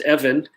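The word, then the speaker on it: אבן: hopefully learned some hebrew that eben pronounced evan means stone in hebrew and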